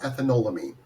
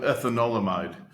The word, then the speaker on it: ethanolamide: One of them is PA or pomato ethanolamine. Uh and I pronounce that right? Pom ethan ethanolamide.